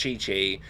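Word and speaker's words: Qiqi: Sorry, I call it Kiki because it's QI, but it's pronounced Chi Chi.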